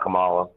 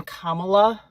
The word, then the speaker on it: Kamala: Um, so just real quick, um, you pronounce her name Kamala, like the comma in a sentence and then la.